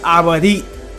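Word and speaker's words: עברית: It's called Joshua, obviously in the English language, but we are studying Hebrew, or how you say Hebrew in Hebrew, the Abadit, right?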